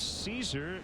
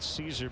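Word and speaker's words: Szczur: salas matchup too much that's not how it's spelled by the way it's s z c z u r hail caesar for making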